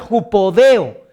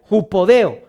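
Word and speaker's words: ὑποδέω: La palabra calzado es una palabra en griego que se pronuncia jupodeo. Ahí está apareciendo en la pantalla, jupodeo. Y la palabra jupodeo significaba atarse bien las sandalias.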